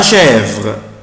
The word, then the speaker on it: chèvre: La chèvre, la chèvre, la chèvre, la chèvre, la chèvre, la chèvre. chèvre يعني المعزة بتاعت بكار، عارفينه؟ la chèvre. طبعا هنا بنطق يا ولاد السي اش بنطقها ش.